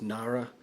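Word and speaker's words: narra: molave and i think the last one's pronounced nara n-a-r-r-a um the molave is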